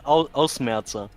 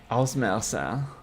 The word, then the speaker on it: Ausmerzer: You pronounced that absolutely wrong. Okay, help me. It's called Ausmerzer. Oh. Ausmerzer.